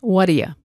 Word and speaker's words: whaddaya: completely in this video we practice reduced whadya what do you let's look at meaning number one of wadiya what do you plus